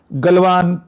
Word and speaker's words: गलवान: है गलवान घाटी की, अलग अलग उच्चारण है, गलवान, ये देशज जो शब्द होते हैं क्षेत्रों के जगह के, उस पर विवाद हो सकता है कोई उच्चारण, लेकिन मुझे लगता है मैं गलवान का उच्चारण करूंगा उसको।